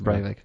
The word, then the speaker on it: Breivik: It's Breivik.